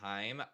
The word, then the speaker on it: Haim: They really kind of blew up, and I always forget how to pronounce it, but I think it's Haim or Haim when they performed. Time, yeah. Yeah, Haim.